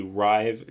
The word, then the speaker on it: Ryve: It is a physical journal called the Rive Journal. It's spelled RYVE, and you could actually get this on Amazon.